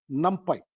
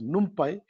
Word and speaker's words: NumPy: very important library is called num pipe some people will pronounce it as numpy but what does it